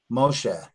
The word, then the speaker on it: Moshe: lengthens that act sound Moshe Moshe there's a definite air sound at the end of this word Moshe it's not just Moshe